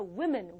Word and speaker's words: women: 바뀌는게 아니라 W own e 발음이나요 그래서이 아니라 women women 이렇게 발음이 돼요 그래서 one woman to women one